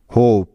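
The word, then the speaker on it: hope: গেল নেক্সট উদাহরণটা দেখো এইচ ও পি ই হোপ এখানে দেখো এই শব্দটির উচ্চারণটা কেন এমন হলো যেমন দেখো এই শব্দটির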